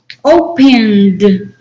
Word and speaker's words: opened: Opened, opened. What is the last sound there? The ed sounds like D, right?